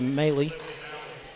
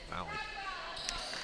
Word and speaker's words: Maley: I believe we're going to see number 11, Olivia Maley. Or Malley. Malley. Well, I've been pronouncing it wrong all game, so I'm sorry. That's what our boss says. Yeah. Malley.